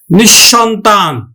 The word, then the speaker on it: নিঃসন্তান: উচ্চারণ করব কিন্তু নিঃশেষ নিঃসন্তান নিঃসন্তান আমরা কিভাবে উচ্চারণ করি নিসর্গর পরে কি আছে দন্তস কিন্তু দন্তস আমরা উচ্চারণ করি না তালব্যস উচ্চারণ করি নি সন তান নিঃসন্তান তারপরে নিঃসম্বল